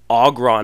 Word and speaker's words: Aggron: He's like, it's Aggron, not Aggron, or something like that.